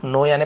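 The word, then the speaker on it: knew: चला नो यानी नो के एन ओ डब्लू नो यानी पता चलना और न्यू यानी पता चला सेकंड फॉर्म तो आप यहां पर कू नहीं पढ़ेंगे न्यू पढ़ेंगे के साइलेंट होता है जब राजा को पता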